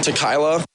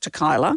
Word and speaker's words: tequila: Tequila. Tequila. Tequila. He's always, this guy presumably has seen the word and always thought it's pronounced to Kyla.